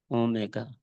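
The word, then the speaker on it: omega: ये Greek letter है, इसको प्रोनाउंस करते हैं ओमेगा।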